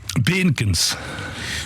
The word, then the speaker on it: Beenkens: Benkens. Benkens, vous prononcez ça parfaitement à la bruxelloise.